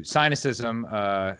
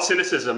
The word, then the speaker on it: Sinocism: and a subscriber to Sinocism. Am I saying that correctly? I actually call it Sinocism. I picked the name to rhyme with Sinocism, but either way works.